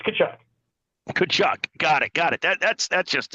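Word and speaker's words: Tkachuk: The T is silent. It's Kachuk.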